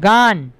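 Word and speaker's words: gun: ঠিক আছে তারপরে বলো গান জি ইউ এন গান গান মানে বন্দুক তাহলে এখানে যেতে পারছি ইউটা আয়ের মতো উচ্চারণ হচ্ছে না গুণ না হয়ে গান হচ্ছে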